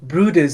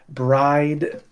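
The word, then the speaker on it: Bryde's: Um, and the the first poem that I'm reading is called Brood Whale and it's spelled B R Y D E apostrophe s whale. So on paper it looks like you could say bride or you know and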